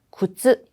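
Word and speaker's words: 靴: 쿠츠까지만 말하고 마치 절벽처럼 이렇게 발음이 끊어져요. 그래서 아, 이건 짧은 발음이네.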